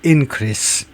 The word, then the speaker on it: increase: The demand for tungsten is going to only increase. 텅스턴 수요가 오로지 증가하기만 할 겁니다. 원래 increase는 명사는 increase, 동사는 increase라고 읽으라고 그러는데 미국 아나운서도 다 동사도 increase, 명사도 increase라고 읽습니다. 동사를 increase라고 읽으면 더 좋지요.